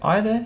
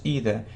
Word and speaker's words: either: Yeah, either, so it's British pronunciation, and either, it's American pronunciation. Yeah, either or either, it's the same.